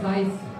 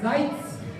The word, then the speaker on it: Seitz: So the last name is Seitz. You know, and the first time I said Seitz. This is wrong. It's Seitz.